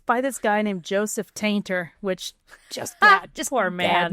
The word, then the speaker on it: Tainter: So, it's by this guy named Joseph Tainter, which just poor man. Bad name. He's like, "Everything is going to die, too. Especially Billy who made fun of my name." It's pronounced tinter.